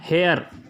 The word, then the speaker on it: heir: एन हेयर, हेयर में HEIR हेयर होता है, तो वहाँ पर एच साइलेंट है।